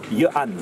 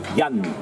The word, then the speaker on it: Yann: l'ancienne forme écrite, et en breton, auparavant, on disait Johann. Alors maintenant, en breton, on dit plutôt Yann. Hein, Yann, Yann, donc c'est deux variantes de prononciation.